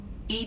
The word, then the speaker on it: EDI: are you named Ed Ed is the phonetic pronunciation of Ed e i that is an acronym for enhanced defense intelligence where are you my